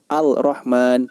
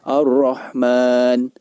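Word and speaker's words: الرحمن: Syamsiah cara membacanya yaitu Al yang terletak sebelum huruf ro tidak dibaca dengan jelas al-rahman tidak demikian akan tetapi ar-rahman ar-rahman cara membacanya awalnya tidak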